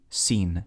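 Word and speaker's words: שׂ: If the dot is over here, it's going to be pronounced like a softer S. So we have sheen, seen, sheen, seen, sheen, seen.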